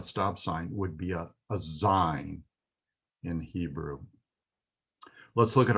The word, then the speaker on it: Zayin: So the next letter we will learn is ZAYIN. It's spelled Z-A-Y-I-N, but the pronunciation sounds very much like the name of the city of Jerusalem, Zion.